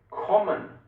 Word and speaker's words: kommen: Agora, quando você vê duas consoantes, você tem que fazer o som ficar mais rápido. Você pronuncia mais rápido. Quer ver só? Ele vai dar os exemplos. Faster. Example: kommen.